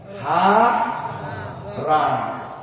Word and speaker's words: হারান: হয়াকার রয়াকার মুদ্দান্ন, হারান। এই যে বানান করে দিলাম, হ আকার র আকার, আরে না মুদ্দান্ন।